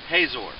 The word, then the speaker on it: Hazor: Israelite city of hotor or as it's pronounced in some English Bibles hazor but hotor was a